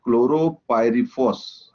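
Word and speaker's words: chlorpyrifos: He's asking, what is the limit of detection for chloropyrifos? Okay. I don't know if I correct. Yeah. This is absolutely right pronunciation, sir. So chloropyrifos, depending on what say system you are using.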